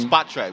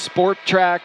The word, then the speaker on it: Spotrac: did an amazing job i thought it's called spot track but i'm glad you pronounced it oh my god i got miami heat in my head i always thought it was sport track like like like sport track like the ford explorer that was like have